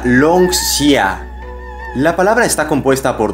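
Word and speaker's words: 龙虾: Se pronuncia Longxia.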